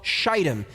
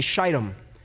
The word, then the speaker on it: Shittim: This place is called Shittim, Shittim. I will not pronounce it any other way. I will say Shittim.